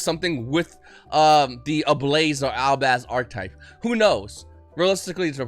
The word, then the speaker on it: Albaz: Fallen of Albaz, I always want to say Ablaze. I want to say Ablaze so badly, but that's not how you say it. It's Albaz.